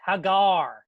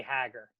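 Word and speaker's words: Hägar: Haggar the horrible some somebody wrote in and say you're pronouncing it wrong it's Hegar no it's not no it can't be that can out it's gotta be Haggar Hegar is a pronunciation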